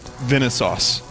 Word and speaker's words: Vinesauce: where's my key how am I supposed to pronounce Venice sauce just like that just like I said it now Venice its Venice